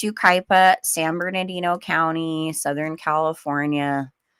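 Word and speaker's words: Yucaipa: So it's, you know, a little harder to pronounce if you're not familiar with how to pronounce it. But it's Ukipa, San Bernardino County, Southern California.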